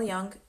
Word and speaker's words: Jung: So Carl Jung didn't, Jung, I think Jung, he pronounced it Jung in English.